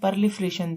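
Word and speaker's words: proliferation: इसकी प्रोनाउंसिएशन परलिफ्रेशन थी, लेकिन इसको हमने इसको प्रो की बजाय इसको ब्रो पढ़ लिया था।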